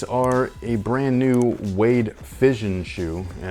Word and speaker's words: Fission: vision with an app it's a fission okay like fish and sure i don't know